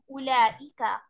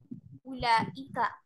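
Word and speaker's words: أولئك: Not that the vowel in Ulaika is not pronounced. The word is pronounced Ulaika. Ulaika.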